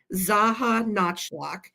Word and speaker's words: Czajanotchlok: And the bear designer on these particular bears was called Sandy Zaha Notchlock. And I'm going to spell it for you. Sandy like Sandy. CZAJANOTCHLOK. So Sandy Zaha Notchlock.